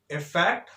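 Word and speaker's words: effect: सबसे first difference तो इस वर्ड के प्रोनाउंसिएशन में ही आता, because first one इज इफेक्ट अफेक्ट, इफेक्ट अफेक्ट, getting my point? एक बोला जाता है इफेक्ट और एक बोला जाता है अफेक्ट।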